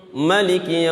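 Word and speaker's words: ملك: Alhamdulillahi Rabbil Alamin, Ar-Rahmanir Rahim, Maliki Yaumiddin, Maliki Yaumiddin. Tidak dipanjangkan ma-nya.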